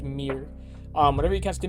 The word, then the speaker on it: Myr: think about it but it's actually pronounced Mir um whenever you cast